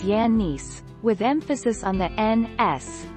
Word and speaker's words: Giannis: lead his first name giannis is a typical greek name that is pronounced as yannis with emphasis on the